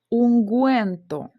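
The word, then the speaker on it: ungüento: Тут у нас після хе іде у, але з двома крапками, тобто вона в нас буде читатись. Унгуенто, тригеньо.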